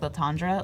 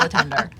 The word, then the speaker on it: Latonder: And his last name looks like Latondra. Like, it looks like it should be super fancy. He goes, no, it rhymes with chicken tender. So it's Kyle Latender.